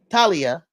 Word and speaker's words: Talia: Talia, that's how you say her name.